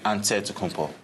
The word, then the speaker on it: Antetokounmpo: in a real way you gotta say with the d so it's a dead compo but in the greek way you say with the nc like antetokounmpo whatever you got just